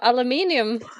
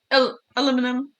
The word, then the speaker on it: aluminum: Yeah, out of aluminium. Aluminum. Aluminum. Aluminum. It depends on where you're from. That's how you say it.